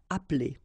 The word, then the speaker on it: appeler: Starting at the second place or the second syllable, and after, then you don't pronounce it.